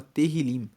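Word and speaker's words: Tehilim: Inclusive, no hebraico, o livro de Salmos se chama Terrilim. se escreve t e h i l i m e terrilim significa louvores.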